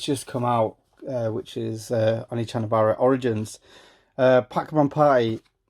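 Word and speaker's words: Onechanbara: For some reason, they dropped an E when it came over to England. So it looks like one Chanabara. I think how you say it is actually Oni Chanabara.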